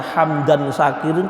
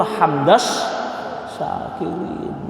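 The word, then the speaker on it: حمدا شاكرين: Kalau diwasolkan tata cara bacanya hamdan syakirin itu salah. Yang betul hamdas syakirin.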